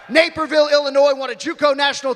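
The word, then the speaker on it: Naperville: Am I pronouncing that right? It's not Napperville, right? All right. Neapville, Illinois.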